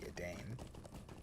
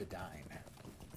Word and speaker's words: Edain: And the name of the Elvish name for men is Edain, and for many years I pronounced it the Edain. But no, it's Edain.